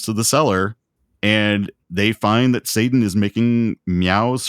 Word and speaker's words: fin: Well, it's in French, it's fin.